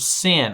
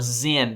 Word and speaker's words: Sin: it says the lord's command the whole community of israel left the wilderness of sin or zen depending on how you kind of pronounce that there's some variation there and move from place